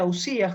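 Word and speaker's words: οὐσία: y que nos dicen las substancias que en griego se pronuncia ausías jóvenes tras el concepto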